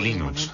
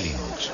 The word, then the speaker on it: Linux: Bueno, yo Linux lo pronuncio Linux. Sin embargo, si fuese Linus Torvalds, no hay duda de que lo pronunciaría Linux. Claro que si uno es de la costa oeste de los Estados Unidos, lo más seguro es que lo pronunciaría Linux. Pero a Linus Torvalds le importa un bledo cómo pronunciéis Linux siempre y cuando lo utilicéis. Empecé a jugar con Linux